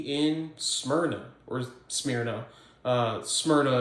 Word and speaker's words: Smyrna: Smyrna or smea uh Smyrna is how the Greeks would have pronounced it anyways it's in uh